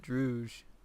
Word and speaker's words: dreuj: or dreui versus brisk I pronounce it drouge yeah like like the drouge from uh or quad Masters